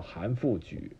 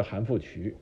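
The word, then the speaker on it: 韩复榘: 复榘啊，他的正确名字发音应该叫韩复榘啊，韩复榘不是韩复渠啊，韩复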